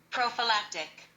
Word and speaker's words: prophylactic: hold okay and I'm back the first word is spelled p r o p h y l a c t i c is an adjective intended to prevent disease and here is how was pronounced prophylactic prophylactic okay let's get the second word prophylactic